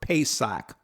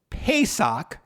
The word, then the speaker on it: pesach: his commentary entitled what does the word passover pesach mean always looking for more than one witness